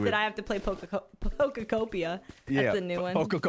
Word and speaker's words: Pokopia: with- I have to play pokopia. Yeah, That's the new one. Pokopia. Why do you always add an extra syllable?